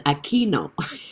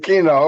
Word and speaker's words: Aquino: attend his life and he always mispronounced my name but i always wanted to have a chance to let him know it's aquino and this is my